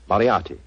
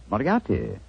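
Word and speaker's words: Moriarty: m o r i a r t y mariati mariati I shall remember that name I have a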